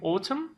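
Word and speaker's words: autumn: قسمت پاییز یا میگیم اتم یا میگیم ف دقت کنید که توی اتم اون ان آخر تلفظ نمیشه نمیشه نمیشه و زمستان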